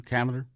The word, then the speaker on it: Kavner: Kavner?